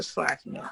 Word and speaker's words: Schlakman: The first question is for Professor Slackman, and I hope I'm pronouncing your name correctly.